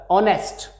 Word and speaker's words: honest: a few examples here honest dash honest man in these words in most of the words if o is followed by h at the initial position h is silent of course there are